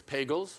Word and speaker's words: Pagels: or soft G it's pagels her husband Hines pagels a theoretical physicist often said pagels rhymes with Bagels Elaine is is the